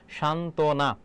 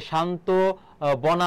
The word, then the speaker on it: সান্ত্বনা: লেখে সেটা তো ভুল সান্ত্বনা বানান হবে দন্তস দন্ত নয়তই ব ফলা তারপর দন্তান সান্তনা আবার দেখো এইযে শান্ত বনা হবে না কারণ ব ফলার উচ্চারণটা এখানে কিন্তু আসবে না শুদ্ধরূপ কোনটি?